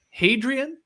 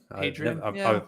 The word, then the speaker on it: Hadrian: Hadrian, I mean, Adrian without the H. We had a few of those at our school, but not a hat in front of it, unless that H is silent in that case.